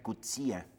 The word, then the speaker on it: Coetzee: los escritores africanos efe coetzee dice que se pronuncia cuchilla bueno muchas gracias por